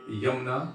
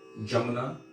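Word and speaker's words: Yamunā: Sometimes they'll say Yamuna or Jamuna, locally. So it depends.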